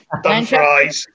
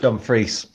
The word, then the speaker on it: Dumfries: Yeah, Dumfries in the south of Scotland. Yeah, you know, there's a town in Virginia named Dumfries that most people just don't pronounce the S at the end. Mm. But they just call it Dumfries.